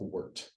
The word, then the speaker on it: wort: That word is pronounced wort.